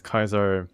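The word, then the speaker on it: Caesar: would have destroyed us the heave pronounces Kaiser in the right manner the NCR is a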